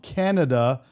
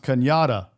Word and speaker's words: Cañada: I used to live on a street called Canada, but it's pronounced Cañada.